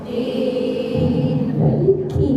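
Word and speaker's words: مَالِكِ: Maliki ya Bu, jangan qi. Kalau qi qaf.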